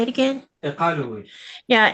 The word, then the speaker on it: Qaqortoq: Qaqortoq. Say it again. Qaqortoq.